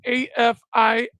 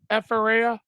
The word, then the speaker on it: Afiara: I'm pretty sure that's how you pronounce his name. It's for the record, it is Afiara, Afiara.